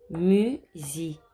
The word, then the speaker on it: musicien: Musicien, rappelez-vous que le IEN fait yen alors que le IAN fait yan.